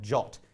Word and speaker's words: JWT: JWT which I know is pronounced not like it's spelled like jot is how you is